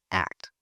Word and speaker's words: ACT: Now let's view the same situation through an acceptance and commitment therapy lens, or pronounced ACT.